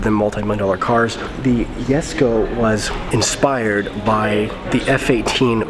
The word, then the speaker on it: Jesko: koenigsegg yes go the yes go it's pronounced yes go not just go so i'm gonna get